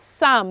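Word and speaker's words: psalm: p s a l m i'm sure you pronounce that as some so the letter p is what is silence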